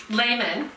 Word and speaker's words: Lehman: We're here with Lehman, managing editor. Pronounced properly, by the way, which often is not, but it's very good. Thank That's you right. very thank much. You. Lehman, not.